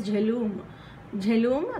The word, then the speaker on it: Jhelum: And now jhelum, this is how you have to pronounce it.